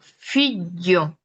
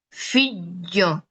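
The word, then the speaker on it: figlio: quede tal cual pegada, y el aire realmente sale por los lados de la lengua, va a salir por esta parte, por estos lados, y no por el centro, que ese es el error principal. Si lo escuchan, yo digo fillo, fillo, ok, ahorita estoy exagerando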